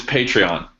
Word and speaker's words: Patreon: it to different ways it's patreon patreon like a patron makes total sense correct all right so